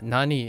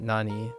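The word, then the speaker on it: 何: in this case uh Nani is pronounced Nan and not Nani this is an exception mhm okay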